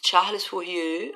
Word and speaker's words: Charles Fourier: parte 110 nós temos charles fourier aí você faz biquinho porque é francês né e nós temos